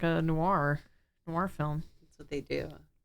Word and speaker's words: noir: Yeah, That's the beauty of noir, film noir, film noir. film noir. Noir. Thank you for pronouncing it how it's intended.